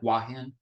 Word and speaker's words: Hua Hin: first installment that ties can pronounce it very fast and it sounds like wahin but it starts with an H here is uh somebody